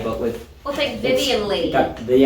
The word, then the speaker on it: Leigh: like sleigh, but with We'll take Vivian Leigh. the S isn't there. Or And Leigh. some people don't even know how to pronounce it, call it leg. Leigh.